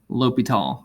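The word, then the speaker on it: L'Hôpital: named after a french mathematician but uh yes pronounced something like l'hopital so i was pronounced it and i was named after this guy and there's his full french name guillaume francois antoine marquis de l'hopital like that so um he was french mathematician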